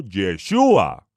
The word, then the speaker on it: Yeshua: griegos los españoles o por aquellos que pronuncian mal la letra j el todopoderoso envió un mensajero a la tierra con la instrucción Divina de llamarlo yeshua Por qué Porque yoshia